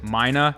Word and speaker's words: Mina: Side note, I've always called the tool Minia, even though in a lot of the training videos that they put out, they pronounce it Mina. So I'm just gonna keep pronouncing it Minia.